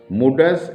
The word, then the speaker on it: Mundus: এই কবিতার নাম মুন্ডাস অ্যাট ইনফ্যান্টস। মুন্ডাস এই শব্দটিকে কেউ কেউ এন লেটারটিকে সাইলেন্ট রেখে মুডাস অ্যাট ইনফ্যান্টস বলেন। যাই হোক, আজকে আমাদের আলোচ্য বিষয় কবিতা মুন্ডাস at infants, written by W.H.